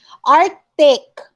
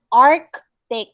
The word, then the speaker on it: arctic: cloth okay my thread arctic arc take there's a c in here so you have to pronounce it okay tuition correct it's